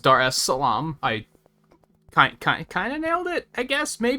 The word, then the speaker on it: Dar es Salaam: very curious so i checked um it is pronounced dar es salaam i kind of nailed it i guess maybe